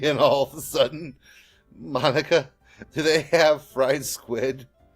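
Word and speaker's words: Monika: all people because it's right of your name Monica yeah that's how you say my name it's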